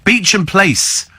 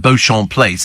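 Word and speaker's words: Beauchamp Place: you can find a load of other places Beach and place yes I mean I used to pronounce it Bon I think it was ban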